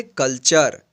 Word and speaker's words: culture: CULTURE, इसको पढ़ेंगे कल्चर। कल्चर means सभ्यता। तो यहाँ पे देखिए यहाँ पे टी का क्या उच्चारण हुआ है, च हुआ है।